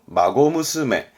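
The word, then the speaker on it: 孫娘: 그래서 발음은 마고무스메.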